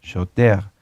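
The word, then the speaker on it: שוטר: Y shoter se escribe shoter con R, pero recuerden que la R en el hebreo se pronuncia como una G, shoter.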